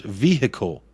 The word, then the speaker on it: vehicle: do that together Ben how many syllables in the word vehicle we all know Americans have trouble with English vehicle vehicle vehicle three there you go hope